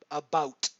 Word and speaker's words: about: I I mean about to my ears it sounds like I'm saying uh AB o WT a about as in bout bow with a t on the end uh about slightly shorter version of The W than bow obviously but uh um but like a clipped bow with a t on